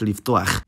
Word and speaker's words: לפתוח: For example, the word for open in adjective form is patuach, but in infinitive verb form, it's pronounced liftuach.